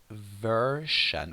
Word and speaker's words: version: In British English, you could pronounce the word version with a sh sound.